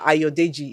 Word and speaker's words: Ayodeji: So make sure you're there for the Future Awards How do you pronounce his name? 2025. Mr. Ayodeji.